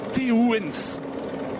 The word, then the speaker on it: Teuns: La Belgique doit-elle compter sur Teunske, Teuns, parce qu'il y a beaucoup de personnel italien justement dans l'équipe Bahreïn et prononcer Teuns c'est pas si facile et le personnel l'appelle Teuns.